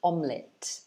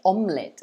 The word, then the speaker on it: omelette: because of the ease they say omelette or omelette but it's not pronounced that way it's actually it again so omelet omelet a spinach